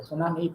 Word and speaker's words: tsunami: The tsunami, pronounced tsunami is a natural phenomenon